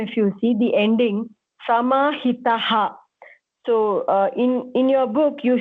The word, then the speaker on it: समाहितः: So the visargam, so called the two dots, that borrows the properties of the previous syllable. So in this case, ta is short, so we will say ha also as short only. Samahitaha. That's it.